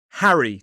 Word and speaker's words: Harry: Harry. 2 syllables, stress on the first. Harry.